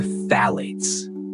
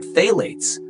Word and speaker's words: phthalates: Which brings us to phthalates, a strange word, hard to pronounce. It sounds like a whisper with too many syllables, but phthalates, plasticizers, were used to make toys soft and flexible.